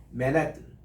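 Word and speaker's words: Manhattan: 그 사람들은 맨하탄을 읽지 않고 뒤에다가 액센트를 주더라고. 맨햇 어떻게 들리면 남자의 머리 이거 햇 이거 쓰는 거 있죠. 그 발음이에요. 맨햇 그리고 뜨는 아주 약하게 살짝 붙이는 거예요. 맨해튼 우리 따라합시다. 맨해튼 이래야 그분들이 맨하탄이라는 걸 알아들어요. 우리처럼 맨하탄이 어디 있느냐 이러니까 못 알아들어요. 액센트가 틀리면 못 알아듣습니다.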